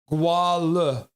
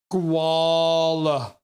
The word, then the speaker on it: Guala: Ah, so they are part guala. The stress is on the first syllable and the G is a hard G. Guala.